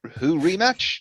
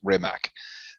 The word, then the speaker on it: Rimac: podcast audience going, who rematch with Elon Musk? Elon Musk had a rematch with someone? If you don't know how to pronounce the name correctly, you'll probably know this guy as Mate Rimac.